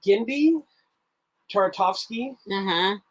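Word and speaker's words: Genndy Tartakovsky: know this uh and i always say his name wrong uh but i think it's gindy taratovsky but that's how you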